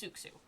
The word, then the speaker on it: Suxu: That's Suxu. That's how, that's what that word is. That's how you say it.